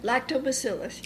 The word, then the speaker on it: Lactobacillus: Remember, we talked about the lactobacillus. Is that how you say it? Lactobacillus, yes.